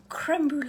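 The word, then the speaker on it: crème brûlée: I keep saying it wrong. Creme Brulee latte. Not creme brulee. I just said creme brulee. Creme brulee. Creme brulee latte. It's creme brulee.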